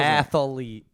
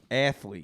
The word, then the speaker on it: athlete: three syllables I didn't know athlete had three syllables in it it does athlete athlete what's that from uh a benchwarmer yes it